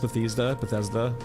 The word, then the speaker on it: Bethesda: Bethesda's always been trying to get this off, like, Bethesda has so ill, like, people do not trust Bethesda.